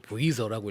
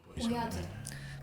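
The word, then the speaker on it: Voyage: 저걸 보이저라고 읽어야 되는 거죠? 보야제. 보야제예요?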